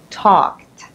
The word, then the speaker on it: talked: So you have ed at the end, and because k is unvoiced, then you can hear the sound of t, not d, right? Talked.